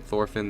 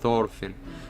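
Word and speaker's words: Thorfinn: The Japanese will make a mess with the pronunciation. Thorphin. They pronounce it to thoren. Yeah. Yeah. Yeah. They they would they said a lot of like tophin.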